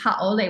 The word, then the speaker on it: haole: they call white people haole, but it really means haole, which means without breath. That's how it's actually pronounced. Ha is the breath and ole is without.